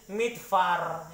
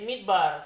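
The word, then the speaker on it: מִדְבָּר: Kita juga tidak baca ini midfar ya. Kenapa tidak baca midfar? Karena ada titik di tengah ini ya. Jadi menjadi midbar.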